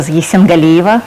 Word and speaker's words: Yessengaliyeva: white thank thanks so much thank you very much just my last name pronounced as a Z symbol Eva so that's why you know I'm going by